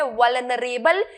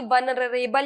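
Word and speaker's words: vulnerable: Galloping का मतलब है सरपट, पेस गति, इनएविटेबल यानी अनिवार्य, वल्नरेबल यानी चपेट में, वल्नरेबल इस तरीके से बोलना है, न कि वल्नरेबल या कुछ इस तरीके से प्रोनाउंस करना है।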